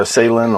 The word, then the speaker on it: Esalen: Am I pronouncing that correctly? Is it Esalen or Esalen or?